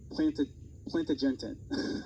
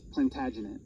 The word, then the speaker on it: Plantagenet: And he was of the house of, I'm going to totally butcher this, the house of Plantagenet.